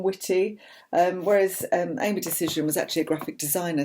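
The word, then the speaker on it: Dacyczyn: money the complete tight wood gazette by amy decision that's how you pronounce it that was one of the first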